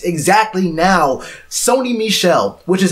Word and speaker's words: Sony Michel: all this man right now right exactly now Sony Michel which is how you pronounce his name Sony Michel plate beside Nick Chubb and he's still shined